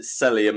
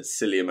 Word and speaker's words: Cellium: been confirmed here, so I'll try and pronounce it Cellium as it's meant to be pronounced. Apparently I said Cellium a couple of times last video, try and do